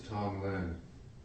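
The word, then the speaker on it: Tonglen: transition connection process thank you you what is Tong Lyn Tong Lyn um so it's spelled t o n g l n and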